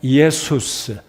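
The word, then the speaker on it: Ἰησοῦς: 되는데 이 예슈아라는 이름은 신약 성경에 우리 예수님의 이에수스, 이걸 빨리 하면 예수가 되는데 이에수스. 그래서 이 이에수스란 말은 구약 성경의 예호슈아의 이름과 동일한 히브리어 발음을 신약시대 예수님 당시에 그 당시에 언어의 발음으로 옮기니까 예수스가 된 것입니다.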